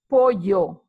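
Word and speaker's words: pollo: you have jamon serrano chicken is poyo that is a double L is not pronounced as a single L but is a different sound is for you pork is Tofino Toa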